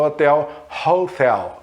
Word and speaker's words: hotel: Mas na palavra hospital, por exemplo, na palavra hotel, se escreve com um H, e igualzinho a português, só que a pronúncia é a pronúncia de H aspirado.